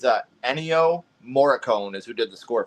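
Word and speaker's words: Ennio Morricone: boo yeah it's a anyo moricone is who did the score for the movie oh okay isn't it morone I think it's pronounced Mor sounds about right I think it's like Italian oh you gotta watch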